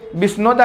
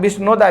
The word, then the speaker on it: बिश्नोदा: बिश्नोदा, बिश्नोदा ध्यान रखना, बिश्नोदा। राइटिंग को थोड़ा समझने की कोशिश करना। मेरा प्रोनाउंसिएशन साफ है, राइटिंग पे मत जाना।